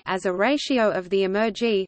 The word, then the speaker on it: emergy: Ulgiati published their formulation of a quantitative sustainability index SI as a ratio of the Emergy spelled with an M, i.e., embodied energy, not simply energy.